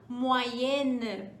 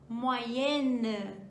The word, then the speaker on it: moyenne: Eu vou acrescentar um N e um E no final e eu marco isso na pronúncia também.